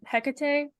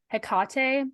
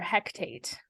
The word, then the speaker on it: Hecate: for the fact that they call on um Hecate or hekate I'm not sure which way is the right way to say it but they say it wrong for sure they call her hectate um which is incorrect and I was really annoyed by that oh heck sorry oh